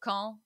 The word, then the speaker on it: Caen: So Caen, not to be confused with Cannes, is a city in Normandy, so it's spelled C-A-E-N.